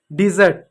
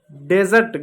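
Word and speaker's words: dessert: डिजर्ट, डेजर्ट गलत है, डिजर्ट होता है, डिजर्ट, डिजर्ट मीन्स होता है मिठाई, डिजर्ट मीन्स होता है मिठाई, और डेजर्ट मीन्स होता है रेगिस्तान।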